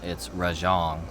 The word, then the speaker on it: Rajang: far, well, I guess according to the game, it's Rajang. Like it's like they say it like Mahjong, but Yeah, it is like Mahjong.